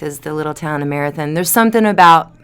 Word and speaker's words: Marathon: the little town of marathon there's something about the locals say Marathon by the way it is Marathon right but Marathon there's something about the